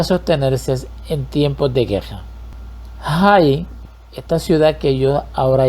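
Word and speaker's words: Hai: Si los reyes cananeos recobraban el aliento con una derrota de Israel en Jai, y ahí se escribe H mayúscula, A y latina, podrían unirse en un ataque coordinado.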